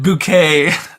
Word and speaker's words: Bucket: this family this woman her last name is bucket which is like the most but she pronounces it bouquet and so uh it's